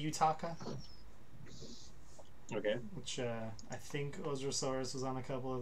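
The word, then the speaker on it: OZROSAURUS: Ozrasaurus. Is that how you say it? Ozrasaurus? I'm not actually sure. That's how I would say it in English, but it's in Japanese. It's Ojirosaurus.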